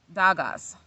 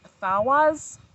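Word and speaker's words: Dagaz: February, March of 2021, Dagas. So I think it's pronounced Thawaz. Like the D is actually a TH.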